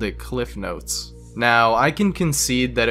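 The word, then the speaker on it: CliffsNotes: It's a small difference, but everyone I talked to called it Cliff Notes. Now, I can concede that it was always called Cliff's Notes on paper, but everyone pronounces it without the S because it's just easier to say.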